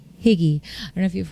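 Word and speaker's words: hygge: to the concept or the word higgy it's spelled h y g g e higgy I don't know if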